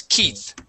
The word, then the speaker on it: Keith: of a boy okay that e that EI in the middle there makes a long e sound the word is Keith Keith yeah you were